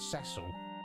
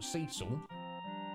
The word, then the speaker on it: Cecil: cage was like oh i'm glad you uh pronounce it as cecil uh but again if someone calls cecil cecil that's also fine and there's no judgment there a trailer or video